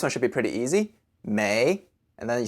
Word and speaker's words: 没: 没 is spelled M-E-I. The M sounds just like an English M, ma, and the E-I sounds like an English hard A, so A.